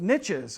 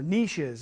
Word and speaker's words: niche: levels or roles that are called niches or niches if you want to use uh that pronunciation.